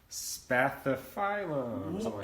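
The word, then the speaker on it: Spathiphyllum: Spathiphylum. And even pronounced correctly.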